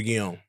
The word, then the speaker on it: Guillaume: Robert Guillaume. Robert Guillaume.